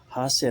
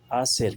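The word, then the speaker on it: hacer: लड़का एक जरूरी टिप स्पेनिश में एच की आवाज नहीं निकाली जाती ये हमेशा खामोश यानी साइलेंट रहता है। जैसे हासिर एच ए सी आर हासिर नहीं पढ़ेंगे बल्कि आसिर कहेंगे। आसिर इसको इसलिए पढ़ेंगे कि एच यहां साइलेंट है।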